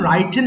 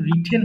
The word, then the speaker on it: written: এটা কিন্তু রাইটেন হবে না, রাইটেন পুরাতন ভাবে বলতাম, এটা কিন্তু রিটেন হবে। সঠিক উচ্চারণ বলবো রিটেন, রাইটেন বলে শব্দ নেই, রিটেন।